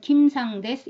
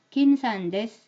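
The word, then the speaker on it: キムさんです: 이렇게 발음을 해버리는 거죠 그렇지만 일본인들은 김상 데스 이렇게 발음을 못 합니다 어떻게 하느냐 내 앞에서 니은이 된다 얘기예요 김산 데스 이렇게 발음을 해야 된다는 얘기입니다 원어민 소리로 들어보세요 라산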